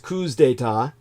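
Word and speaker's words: coups d'état: front line of coup d'etat the plural is pronounced coups data and chaos well the more misery and disorder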